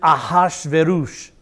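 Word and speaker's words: אחשורוש: That's how most people pronounce that. A good Hebrew would pronounce it Ahashverosh. Ahashverosh. And me being a good Hebrew wannabe is going to pronounce his name Ahashverosh, because that's his name, Ahashverosh.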